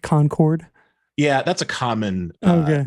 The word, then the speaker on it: Concord: uh called me out uh what i said concord yeah that's a common uh mispronunciation i mean there are people who live in like neighboring states who mispronounce conquered by concords okay well now i know easy